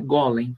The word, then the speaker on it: Golem: não é verdade né Golem se escreve como se pronuncia g u l e